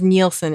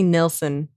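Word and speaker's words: Nilsson: at the same time nelson what did i say everybody says nielsen it they say nelson okay that's true it's sort of more like a uh nordic there's no e yeah love seeing saroo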